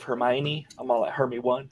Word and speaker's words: Hermione: she was ronnie but when i was reading harry potter it was always hermie one instead of hermione i'm all at hermit